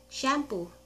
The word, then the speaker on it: syampo: also called shampoo but sometimes you will see it spelled as s y a m p o or pu but it is still pronounced the same as shampoo our next word is